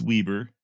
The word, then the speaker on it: Weber: Danish man called Weber spelled Weber but I believe it's pronounced Weber would head out and